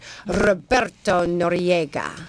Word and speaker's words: Roberto Noriega: and I just want to say it properly, Roberto Noriega.